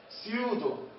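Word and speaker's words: pseudo: البي مع الأس، البي سايلنت. وإيش تلفظ؟ فقط بنلفظ الأس. مثال سيودو سيودو ها سيودو معناها فولس يعني ايش؟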